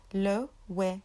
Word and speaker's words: Loewe: So it's spelled Loewe, and the way you say it would be Loewe, Loewe, Loewe, Loewe, Loewe, Loewe.